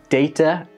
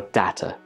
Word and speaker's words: data: a few now so this word can be pronounced like data or data some people use data some people use data I'm not really sure why personally I like to say data this word can be